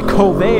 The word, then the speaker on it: Kove: beautiful right now now Cove motorcycles I'm sorry Kobe motorcycles I don't know why they call it covet when it's spelled k-o-v-e maybe they're trying to